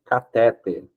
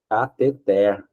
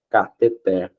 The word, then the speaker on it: cateter: que eu conheço pronuncia catéter todo mundo que eu conheço pronuncia cateter só que a pronúncia correta não é cateter é cateter certo porque se fosse catéter deveria ter um acento aqui mas se você olhar